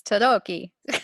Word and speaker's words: Tarocchi: It's Tadoki. Oh, see, so The much better than what C, I said. the CHI is a key sound.